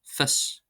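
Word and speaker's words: fios: Then we have IO is pronounced as an I. So we have fis, meaning knowledge, fis, fis, fis.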